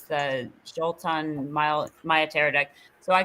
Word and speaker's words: Xultun: It's spelled Xultun. It's the Jolton Maya tarot deck.